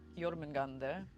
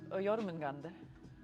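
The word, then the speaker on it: Jörmungandr: So she's just say Jormungandr. I'm saying it in a very Viking way. Jormungandr.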